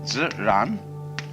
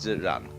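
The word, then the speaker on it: 自然: the Chinese expression Z Zan they pronounce j like an sort of unrolled r i mean that's the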